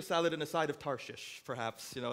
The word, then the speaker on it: Tarshish: israel and in case you're wondering i did pronounce tarshish correctly it's one of those funny bible words that doesn't sound right when you say it tarshish it sounds like uh if you went to